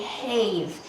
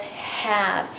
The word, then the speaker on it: have: Now, that's not usually the E makes the A say his name, so this word should be have, but it's not. It says have.